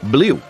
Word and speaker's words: blew: o mais interessante é esse verbo BL tem exatamente a mesma pronúncia da cor Blue ou seja azul em ingls então para memorizar essa palavra